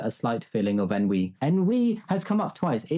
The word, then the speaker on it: ennui: Ennui has come up twice.